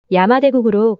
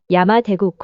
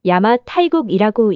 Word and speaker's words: 야마대국: 일본의 역사 문화사에 정통한 김용훈 박사에 의하면이 야마 대국을 야마타국이라고 읽는 경우가 있으나 대자를 다이 또는 타이라고 읽은 것은 중세 이후의 발음이며 중세 이전에는 대라고 읽었다고 한다.